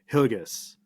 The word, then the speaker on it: Hillegas: and today with me I have James hgus and I may be pronouncing your last name right is that correct